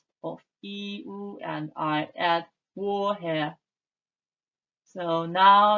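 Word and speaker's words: 我: yourself my name is in chinese and pronounced as war my name is notice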